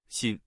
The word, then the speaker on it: 辛: In today's video, we'll teach you the Chinese character for suffering, pronunciation. Xin.